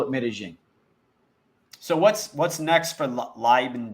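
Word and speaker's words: Medellín: But you are in Medellin, so I mean, you called it Medellin. Medellin, is that so? There's two pronunciations.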